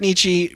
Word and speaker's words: Nietzsche: I pronounced Nietzsche right though.